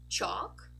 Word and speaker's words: chalk: a pattern very good so when we have a word that has a l and it ends in a k we don't actually say the L as in a dark l or a light L not at all we just saying all this representation here this